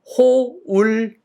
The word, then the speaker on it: hold: 일단 발음이 hold 아니고 hold. 드는 살짝 hold. hold.